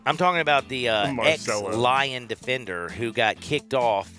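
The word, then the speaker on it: Lyon: dust first of all that's lion l-y-o-n not liowin not like the lion lion like a lion the soccer team oh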